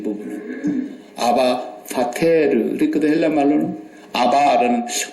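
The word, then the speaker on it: אבא: 아빠라는 말이 아람어로 아바 그래요. 아바. 우리 한국 사람들이 매운 고추를 많이 먹어서 좀 발음이 세게 나오면 아빠.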